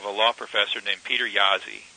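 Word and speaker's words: Jaszi: the direction of a law professor named Peter yazzi J a s z spelled like in Jazzy with a with an S instead of a z for the first Z Peter jazzi okay go Google Peter Yazi j a s z and authorship and read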